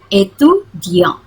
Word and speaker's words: étudiant: Mais ici, tapi di sini je suis étudiant. Ini ada aksen bacanya étudiant.